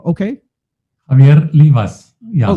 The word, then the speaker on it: Livas: So Javier, without further ado, welcome, and I hope I'm pronouncing your name okay. Javier Livas. Yeah. Oh, Livas. Okay. Livas.